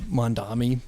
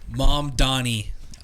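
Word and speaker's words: Mamdani: of uh you know corrections in in like Mandami being a Did I say his name right? Mom Donnie.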